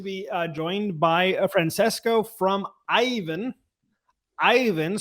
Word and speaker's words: Aiven: As you said, I work for Aiven, which, by the way, has the right pronunciation because the Italian pronunciation is the correct one. And we are lucky enough that the Finnish one is exactly the same.